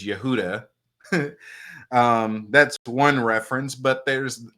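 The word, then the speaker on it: יהודה: You have Judah, likely named after Yehudi, which is a Kemetic deity, because the actual way to pronounce Judah is Yehuda.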